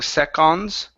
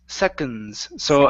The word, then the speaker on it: seconds: word seconds okay um this word instead of pronouncing the on saying secons okay it's second second so awah so the O is awah sound seconds second yeah there you go